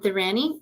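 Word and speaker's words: Inthiran: to just make sure how do we say your name correctly the way that you like people to say it inan inanny okay I've been saying it wrong this whole time too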